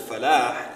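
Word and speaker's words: فلاح: Because the word is falah. Now when you don't pronounce the ha at the end of salah and the ha at the end of falah, you change what?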